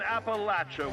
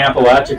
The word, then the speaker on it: Appalachia: I'm glad they're saying Appalachia correct. Right. A lot of people are gonna learn how to say it right now.